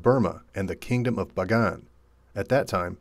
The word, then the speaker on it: Bagan: and the kingdom of Bagan at that time pronounced with a sharp P sound like Pagan during this time more